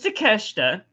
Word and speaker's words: Takeshita: His name is Takeshita. I know it's spelled like take a shit.